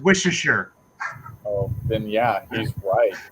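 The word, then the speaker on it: Worcester: and uh dave says seth probably doesn't even know how to pronounce warchester yeah it's pronounced wisheshere oh then yeah he's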